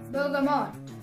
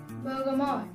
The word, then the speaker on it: bergamot: இப்போ வந்து அது மூணுத்தோட சேர்த்து நம்ம வந்து ப்ரொனவுன்ஸ் பண்ண ட்ரை பண்ணலாம். பெர்கமாட் பெர்கமாட் பெர்கமாட்.